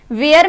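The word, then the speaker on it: where: जैसे वेयर, वेयर में H को हम साइलेंट बोलते हैं इसलिए वेयर बोलते हैं।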